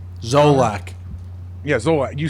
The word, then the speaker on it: Zolak: Scott, how do you pronounce his Zolak. last name? Zolak.